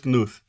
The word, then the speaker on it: Knuth: of programing de Donald knuth Sim esse k é pronunciado knuth é considerado o